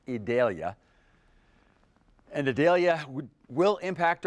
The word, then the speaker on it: Idalia: we think it's just about a given it will eventually be called idalia that's how it's officially being pronounced idalia and Adalia would will impact our weather it's